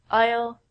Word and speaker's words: isle: The s in these words are silent. We don't say isle and isle. We say isle. Isle.